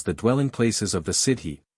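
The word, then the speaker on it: sídhe: Dwelling Places of the city pronounced shei or fairy folk who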